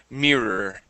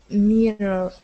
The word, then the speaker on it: mirror: one last one okay this word is mirror so we're going to use a long e sound me Mirror Mirror good one more time